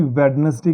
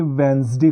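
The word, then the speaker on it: Wednesday: आवाज़ आती है दोस्तों जैसे इसको हम नॉर्मली वेडनेसडे कहते हैं दोस्तों लेकिन ये bedness जी नहीं होता दोस्तों ये वेडनेसडे होता है एन को बोला जाता है और दी साइलेंट हो जाता है तो ये इसके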